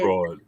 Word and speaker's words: Freud: Fraud. Fruit fraud. That's how you say it. I call them fruit. Anyway, I got an A on it. Freud.